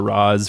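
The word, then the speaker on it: Ra's: Todd rather a xiaogu however you prefer your pronunciation I like raysh it sounds cooler but we're so used to Roz from the Christopher Nolan film so yeah so yeah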